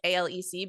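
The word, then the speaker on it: Alex: Murdoch um and then the dad's name is Alec like Alec but he spells it a-l-e-x that's what they call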